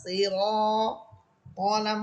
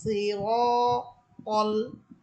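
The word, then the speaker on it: صِرَاطَ: ইহদিনাস সিরাতাল, সিরাতাল। এখানে দেখবেন অনেকেই ইহদিনাস সিরাতাল বলে, সিরা রায়ের উপরে জবর দিয়ে পড়ে, এটা ভুল।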